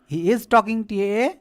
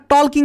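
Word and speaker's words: talk: পরে কি বসে বসে তাকের সঙ্গে আইন যকিং টকিং এখানে টলকিং করো না হ্যা কারণটি এল কে এটা টক উচ্চারণ হয় এইযে যেটা আছে যেটা আছে এ এর উচ্চারণটা উজ্য থাকে।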